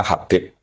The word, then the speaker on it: Habib: Itu di harakatnya kitab itu ada yang nulis khubb. L yang benar. Oh, nggih. Yang benar itu bacanya Habib.